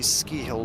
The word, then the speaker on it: Scahill: we usually say ski hill, like ski ball.